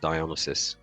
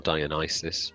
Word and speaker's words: Dionysus: It was just me and a couple of lads, and yeah, they created Dionysus, or Dionysus, depending on your pronunciation of those gods.